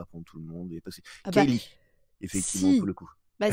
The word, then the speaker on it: Ceilidh: mon nom écrit comme ça, ils vont le prononcer comme ça. Je vais pas commencer à reprendre tout le monde. Kaylee, effectivement, pour le coup.